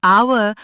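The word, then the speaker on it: hour: लेकिन आवर और ऑनेस्ट में एच साइलेंट है। आवाज औ की है तो एन लगेगा।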